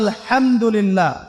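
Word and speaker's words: الحمد لله: এইতো আপনি পড়ছেন আলহামদুলিল্লাহ। শব্দটা কি? আলহামদুলিল্লাহ। এই হা এর মাখরাজ কোথায়? হা এর মাখরাজ কোথায়? বলেন একজন কন্ঠনালীর মাঝখান থেকে এখান থেকে আপনি উচ্চারণ করছেন আলহামদুলিল্লাহি রাব্বিল আলামিন অর্থ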